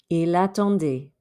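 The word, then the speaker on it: il attendait: you end up with ila tondi remember don't pronounce that t at the end what does it mean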